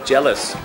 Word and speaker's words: jealous: อย่าง เช่น จะ สอน คำ ว่า jealous ก็ วิธี การ จำ ก็ เหมือน แ เจ๊ เลิศ นะ เนี่ย เจ๊ เลิศ โอ